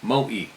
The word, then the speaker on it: Moe: On this night, me and my friend had gone to the town of Moe, pronounced Moe, to the Ice nightclub.